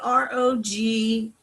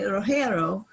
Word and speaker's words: Rogero: anya the sanchez of my grandfather's name was accented on the first syllable and you see r-o-g-e-r-o now many people in